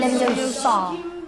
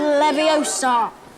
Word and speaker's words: Leviosa: Wardium leviosa. Wingardium. Wingardium leviosa. Stop. Stop. Stop. You're going to take someone's eye out. Besides, you're saying it wrong. It's Leviosa, not Leviosa.